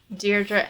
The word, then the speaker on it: Deirdre: Um, yeah, I probably mispronounced all of those names except for Deerra cuz I used to know someone named Deerra, so I knew that that was like how you pronounce it.